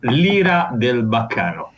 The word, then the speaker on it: L'Ira del Baccano: Can you pronounce for me the name of the band, please? Yes, of course. It's Lira del Baccano.